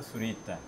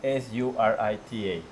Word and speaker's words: Zurita: are what's your last name I'm surita how do you spell that please s u r i t a s u s u r i z z